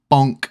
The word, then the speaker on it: Bonk: egld also up and bonk as well guys I'm sorry I pronounced it boink last time I got a little bit excited I do like the word boink but this one is called Bonk and it's down at